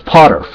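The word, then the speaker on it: Poterf: I think it's Potterf. It's pronounced Potter, but you add the F because he told me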